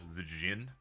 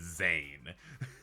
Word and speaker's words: Zin: Kind of like how Zan is pronounced uh Zin. Some would say his name is Zane.